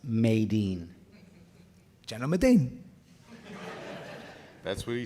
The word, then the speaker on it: Medine: I believe it's pronounced Maydeen.